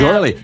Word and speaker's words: Gourley: gourley. Is it, how do you say, what's that vowel exactly? Is it Gore. gore, like Gourley. gore, like Yeah. gore?